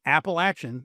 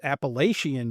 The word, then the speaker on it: Appalachian: There is no other way to pronounce that word. If you pronounce it any other way than Appalachin, you are wrong. If you pronounce it Appalachian, you are damn wrong.